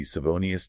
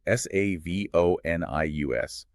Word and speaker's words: Savonius: We are talking about the Savonius turbine. It is spelled s a v o n i u s.